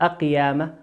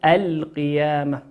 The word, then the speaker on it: القيامة: وقول ربنا عز وجل القيامة لام ساكنة أتى بعدها حرف القاف والقاف من حروف اللام القمرية لا ندغمها لكن نظهرها ما نقول أقيامة لكن نقول القيامة.